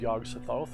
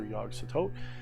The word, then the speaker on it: Yog-Sothoth: demon in review of yog sothoth or yogg-satot i'm just going to say yog-sothoth how about that we'll